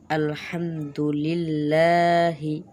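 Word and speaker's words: الحمد لله: উচ্চারণ আলহামদুলিল্লাহি, অর্থাৎ সমস্ত প্রশংসা আল্লাহর জন্য।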